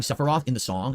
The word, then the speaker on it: Sephiroth: I pronounce it like this, Sephiroth. In the song, the lyric is like Sephiroth, like it ends with like an S.